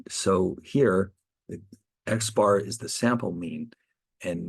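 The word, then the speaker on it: x̄: X with a little bar on top of that which is we'll pronounce this Xbar is the sample mean.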